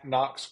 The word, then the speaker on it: Knox: Just Knox. Uh, there's a silent K in front of my name and then, uh, last name starts with a K.